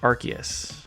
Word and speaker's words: Arceus: But it's actually Arceus. That's right, Pokémon Legends Arceus, not Arceus.